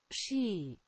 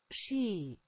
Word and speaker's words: Psi: Psi. Ooh, did you guys hear that? Psi. That's how you say that.